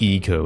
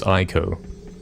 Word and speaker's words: Ico: It's like Ico, isn't it? It's not pronounced Eco, it's Ico.